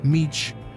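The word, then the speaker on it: mici: Missy, pronounced Meech, are small grilled rolls of mixed meat seasoned with garlic, thyme, and baking soda.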